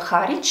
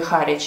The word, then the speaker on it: Harwich: Кстати, по поводу названия города, опять же таки, я его называла по-русски Харвич. Мы же называем район города Гринвич, который, в принципе, также пишется W-I-C-H на конце, называем Гринвич. Почему-то Харвич с таким же написанием на конце должен по-русски звучать Харвич. Но я посмотрела в Википедии, мы называем этот город Харвич.